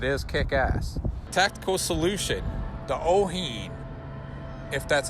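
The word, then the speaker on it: Owyhee: Tactical Solution, the Oheen, if that's how you pronounce it. How do you pronounce that, Tony? Oheen.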